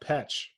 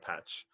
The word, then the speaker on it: Pech: Is it pronounced Peck or is it pronounced Petch? Here we go. I've always said Petch, but like I think